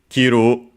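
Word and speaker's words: 着る: And then last but not least, kiru unacented, which is the verb uh to wear, to put on from the shoulders down, and so of t-shirts of kimono for kiru.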